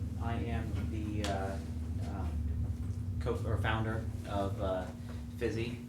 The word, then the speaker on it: Physi: am the co-founder of fizzy it's pronounced busy like physical activity not busy here so